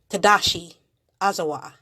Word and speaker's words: Tadashi Ozawa: this book by Tadashi Ozawa, Anime and Game Tadashi Ozawa. That's how her name's pronounced.